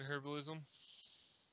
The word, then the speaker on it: herbalism: Skinning and herbalism? Herbalism, yes. The H is silent.